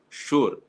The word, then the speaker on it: sure: you sure that means sugar is not the only word in which the yes you is pronounced as shu there is another word sure where also su is